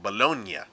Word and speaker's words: Bologna: GN, the acronym for good night, makes a piñata ng noise, so it's not lasagna, it's lasagna and bologna.